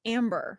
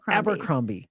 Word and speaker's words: Abercrombie: No, I call it Amber. No, it's Abercrombie. And I just got corrected like 2 weeks ago.